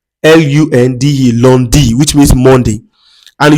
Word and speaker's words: lundi: Lundi. Lundi. l u n d i.